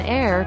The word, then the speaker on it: heir: Only a few English words begin with an unvoiced H. An heir to the throne.